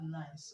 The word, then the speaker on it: nice: you to know that the C in nice is pronounced and not Z okay now the next question